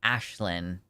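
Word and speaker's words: Aisling: Oh, it's pronounced Ashlyn.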